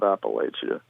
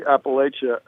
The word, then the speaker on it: Appalachia: Yeah, I say Appalachia. We're right at the point. I think the Mason-Dixon line, below the Mason-Dixon line, it's Appalachia, largely. People pronounce it that way. And I think above the Mason-Dixon line, it's Appalachia. We're very close to the Mason-Dixon line. It's an hour south of us. So we get both pronunciations here.